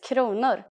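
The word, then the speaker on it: kronor: money in Swedish in Sweden the currency is konor please pay attention to this first pronunciation konor let's try to say prices in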